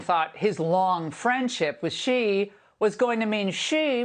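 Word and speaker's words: Xi: remember I pointed out how the pronunciation changed from G to she okay and the captions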